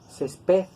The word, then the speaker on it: césped: así como pronunciamos pared no decimos césped nosotros decimos césped y es lo que lo convierte en una palabra grave y para señalar que es una palabra grave le colocamos la tilde porque si nosotros no le colocamos la tilde va a sonar aguda como pared verdad césped pero tiene que sonar grave césped entonces lo mismo con